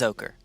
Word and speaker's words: Oko: up please wait what the heck where'd the pronunciation button go it got buried under oh there it is ready it is ochre okay here let me raise it just uh